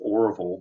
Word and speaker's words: Orville: Um, Arville Hicks, his his name is Orville, but Bill pronounced it RV.